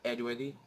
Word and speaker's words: Edworthy: can type my name just type it edworthy edworthy e d w o r t h y that's how you spell it and pronounce it otherwise people call me